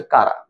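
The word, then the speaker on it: Chara: অনেকে চারা বলে। সঠিক উচ্চারণ হচ্ছে কারা।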